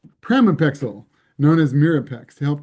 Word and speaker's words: pramipexole: Jessica Krantz developed an item for Project Chance that asked, have you ever been prescribed or used I always pronounce this wrong, pramipexole, known as Mirapex, to help control your gambling.